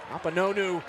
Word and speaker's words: Akpunonu: Akpunonu leading the charge for Charleston.